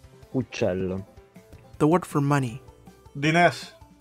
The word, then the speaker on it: uccello: The letter C before I or E has a soft sound. In Catalan, it's pronounced S, but Italian has CH. We saw this earlier in the word for bird.